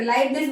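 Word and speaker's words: Leibniz: इनका नाम लेना थोड़ा सा टफ लग रहा है। लीव निज। ठीक है? कौन है? लाइवनेस calculator. लाइवनेस बोल सकते हो। बिल्कुल सही है।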